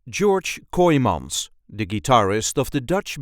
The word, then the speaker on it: George Kooymans: This is the way we say George Coyons. George Kyims. George Coyons. There is a light emphasis on the first syllable of his second name. George Kymans.